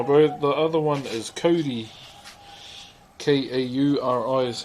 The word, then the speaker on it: Kauri: The other one is Kauri. K-A-U-R-I is how you spell it.